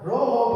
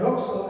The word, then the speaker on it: roxo: Rojo, rojo. Pero recuerden que esta X no tiene no tiene pronunciación folética de así de como de de X, si no no es roxo, es rojo.